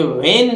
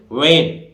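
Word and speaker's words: when: भी H silent रहेगा ये वन नहीं बोलता है जो सामान्यत इस तरह से बोलते हैं हम वेन ये गलत है भाई इसको कैसे बोलेंगे वन वन माने कब इसी तरह देखिए डबल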